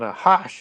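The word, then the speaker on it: Nachash: an enigma and then akash or then a hush as it's more properly pronounced in hebrew the serpent is the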